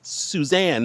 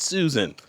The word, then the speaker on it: Suzanne: It's Suzanne, not Susan.